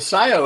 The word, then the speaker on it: Cyio: simple what is Scio well Scio is actually a spin it's it's spelled Cy iio it's a spin from the Latin term Scio which means to know and Scio is a